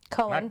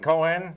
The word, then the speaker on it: Cohen: Cohen. Not Cohen. Cohen.